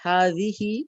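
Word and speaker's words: هذه: It is pronounced hazihi, but the alif is omitted in writing.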